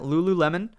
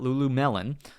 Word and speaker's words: Lululemon: Lululemon. I'll say it correctly this time. Not Lulu Melon.